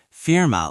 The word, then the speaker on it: Firma: Firma looks almost identical to the English word firm, as in a law firm or accounting firm. Same meaning, just pronounce it the German way.